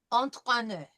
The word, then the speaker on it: entraîner: Okay, last time we practiced the entraîner, so we know it's entra, T followed by the French R, with an I with a circumflex over it. So entraîner.